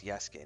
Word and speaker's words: Yasuke: Is this Yasuke, but I always pronounce Yuk, but it's Yasuke.